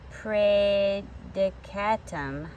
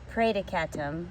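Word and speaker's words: praedicatum: for pray to come pray dekatum I'm saying it wrong pray to catam which is Latin for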